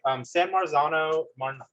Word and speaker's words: San Marzano: San Marzano, that's how you say it, are pretty popular.